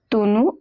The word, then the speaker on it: tonneau: Tonneau, it means a barrel. Remember the pronunciation is tonneau.